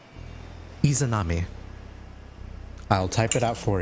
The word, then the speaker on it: Izanami: How do I pronounce her name? Izanami. I'll type it out for you. Thank you. Izanami.